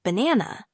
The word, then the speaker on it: banana: For instance, in the word banana, the stress falls on the second syllable, ba-na.